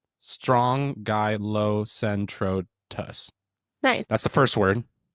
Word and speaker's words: Strongylocentrotus: So the purple sea urchin scientific name is Strongylocentrotus. Try again. Yeah. Strongylocentrotus. Strongylocentrotus.